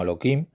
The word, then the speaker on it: Elohim: Yo pronuncio ese nombre como Elohim, a pesar de que está escrito con una Hei en lugar de una Kuf. Lo pronuncio como Elohim, porque no quiero usar su nombre en vano.